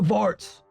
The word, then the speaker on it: Xvart: It's X V A R T. Vart, the exile.